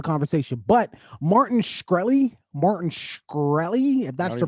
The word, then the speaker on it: Shkreli: let's have the conversation but martin shkreli martin shkreli that's the pronunciation martin sure um that